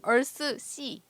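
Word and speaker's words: Earthsea: 이것도 이게 표기의 문제인데 한국 표기는 어스시예요. 근데 그게 실제로는 얼스시.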